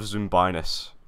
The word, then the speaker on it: Zoombinis: you pick it man i love zumbinus it's the actual pronunciation i can't believe how